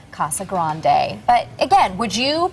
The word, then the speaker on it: Casa Grande: Mia says cassa Grande roll the r in Grande Grande and Sarah fuler